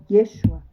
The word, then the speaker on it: Yeshua: Yosua em hebraico antigo, após oío exírio de Babilônia passou a ser pronunciado Yeshua.